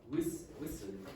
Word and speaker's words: whistle: Whistle. Yeah, whistle. Whistle. What's missing? Or sorry, what's the silent letter? T. The T.